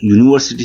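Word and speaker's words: university: तो वो दोस्तों वाई की तरह उच्चारण होता है। उसका प्रोनाउंसिएशन वाई होता है।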